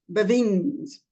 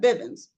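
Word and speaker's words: Biving: But he pronounced it Bevins. So I had to put that down on the forum on my little cheat sheet next to his name, that he pronounced it Bevins and not Bivens.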